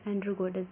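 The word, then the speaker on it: Sandrocottus: अगर बात करें ग्रीक में चंद्रगुप्त मौर्य को क्या बोलते हैं, सेंट्रोकोटस, यहाँ एस साइलेंट कर दे, एंड्रोकोटस भी कहा जाता है।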